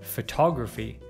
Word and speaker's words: photography: With this suffix, we stress the syllable immediately before it.